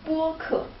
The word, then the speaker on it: 播客: That is 博客. So they're very similar, yeah, but different tones.